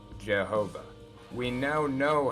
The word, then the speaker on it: Jehovah: years and of course when pronounced with a German accent of that time period why is sound like J's and W sound like V's so the name was pronounced Jehovah we now know how